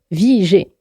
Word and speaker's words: Vigée: En 1943, il change de vie et adopte d'ailleurs le pseudonyme Vigée, qui s'écrit V-I-G accent aigu E, mais se prononce comme la vie pour laquelle il s'est battu.